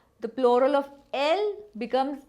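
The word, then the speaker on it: elles: Il is he, elle is she. Nous is we, vous is you, same as aap in Hindi. This pronunciation is not ils and els, it is il and el.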